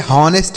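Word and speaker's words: honest: यहां पर इसे ऑनेस्ट नहीं पढ़ेंगे। एच लिखा गया बच्चों। लेकिन इसे पढ़ा नहीं जाता है। यह साइलेंट होता है।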